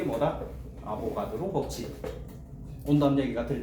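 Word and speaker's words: Avogadro: 이름 이상하게 얘기하지 마라, 알겠지? 이게 희한하게 아보가드로라는 이름이 좀 어렵나 봐. 그러다 보니까 어떻게 발음하는 애들이 생각보다 매년 나오는데 아보가르. 저 봐봐 있지 아보가르도 희한해.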